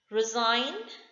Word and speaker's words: resign: Resign, G is silent.